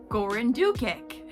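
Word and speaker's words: Goran Dukić: I'm looking up how to pronounce the director's name. Goran Dukic.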